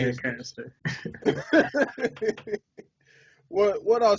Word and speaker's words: Lancaster: Lancaster. What I'll say is this. That shit always makes me laugh. You can tell who is from the area and who not, because it's pronounced Lancaster, fool.